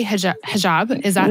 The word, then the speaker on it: hijab: help me pronounce it I would say hij hijab is that how you pronounce I wore the hijab yes you wore the hijab um what did it like when did you